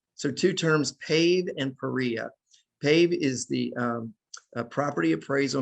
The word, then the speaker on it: PAREA: What you need to know about it, it rhymes with FIREA to PAREA.